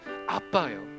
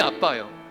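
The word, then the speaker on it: ἀββα: 아바라고 이렇게 적어 놨는데 아빠예요. 알파 베타 베타 알파라고 헬라어가 발음이 아빠예요.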